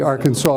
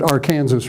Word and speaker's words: Arkansas: railroad bridge over the Arkansas River or is it AR Kanas River I want want to make sure I get my pronunciation right and here's the town